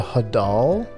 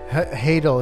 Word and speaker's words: hadal: Hadal. It's like title. Hadal.